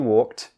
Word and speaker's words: walked: so just remember guys if you have a k d at the end of a word it's pronounced as T but remember you still